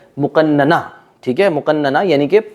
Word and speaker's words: مقننہ: غلط ادا کیا ہے، ظاہر اصل جو اس کی جو ادائیگی ہے، تلفظ ہے، وہ تو ہے مقننہ، ٹھیک ہے، مقننہ یعنی